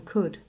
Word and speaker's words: could: Sometimes they added silent letters to words, like the B in doubt and the L in could.